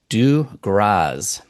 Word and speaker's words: Dugroz: mail from last week, is actually pronounced Dugroz. You actually pronounce the Z, even though it's a play on his name with a Z instead of an S.